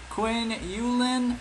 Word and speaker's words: Qiu Yuelan: to pronounce that uh Quinn yulin yes that's how you pronounce it I just got credibility